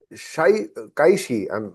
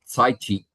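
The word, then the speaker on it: Cai Qi: Prime Minister Modi and Kaishi. I'm not very sure of the pronunciation. You can correct me on that. The pronunciation is Saichi.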